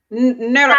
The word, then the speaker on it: Narok: She said the rate is at 40% in Norak. I'm sorry, I probably pronounced it wrong. Norak. I always pronounce it wrong. Can you help me say it correctly? Norak. How? Narok. Norak. Narok. Yes.